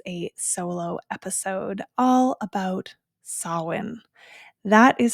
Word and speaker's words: Samhain: And so as with so many Celtic words, they're pronounced differently than our English words would be pronounced. And so in this case, it is Samhain.